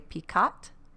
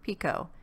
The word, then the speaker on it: picot: i'm saying that right for some reason i want to say picat but i think it's supposed to be pronounced pico if i'm pronouncing it